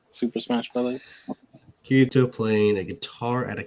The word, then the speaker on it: Kirito: you can you take kirito one more time for me kitty i want to hear how you say it corrido it's like dorito but with a k okay it could be